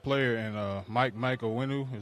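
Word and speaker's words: Onwenu: He he he got a good coach, you know, he got a good player and uh Mike Mike Wenu is how you say his name.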